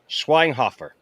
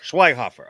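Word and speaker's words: Schweighöfer: breakdown uh because um now how do you pronounce his last name i just call him matthias what is it schweinkoffer schweinhofer okay probably not like it would be like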